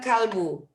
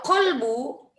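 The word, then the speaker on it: قلب: Kalbun itu anak anjing. Kalau kolbu baru hati.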